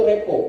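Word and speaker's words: rapport: itu adalah 0 Revo bacanya itu repo bukan raport ya tulisannya raport Tapi bacanya adalah hubungan jadi ini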